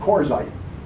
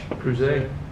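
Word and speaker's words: Crouzet: I will show you by doing, because I can't pronounce the name. I say Corzite, but I don't think that's it. Come on, machine. It's spelled there it is. It's spelled C-R-O-U-Z-E-T. I think it's French. Creuset.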